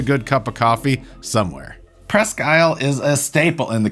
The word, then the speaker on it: Presque Isle: And yes, for everybody that's in Alpena, this is called Presque Isle. Yours is called Presque Isle. Spelled the same, pronounced different, and that's okay.